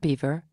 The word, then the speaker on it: Belvoir: They do things differently at Belvoir, pronounced Beaver, the Leicestershire castle which